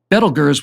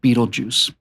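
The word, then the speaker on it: Betelgeuse: had a strange name belgers was the correct pronunciation but most people just call it Beetle Juice looking at a star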